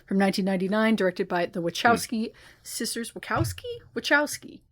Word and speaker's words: Wachowski: So we did The Matrix from 1999 directed by the Wowski sisters Wakowski. Wowski, right? Wowki. Say the ch. I said wowski. Yeah, there's a T in it. Yeah. Wowski.